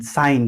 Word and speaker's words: sign: SIN साइन होता है, इसमें जी साइलेंट होता है।